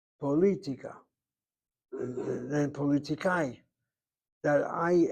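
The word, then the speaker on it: פוליטיקה: Well, look where the accent is on that word. Politica. Not politica. Poli on the second syllable. Politica.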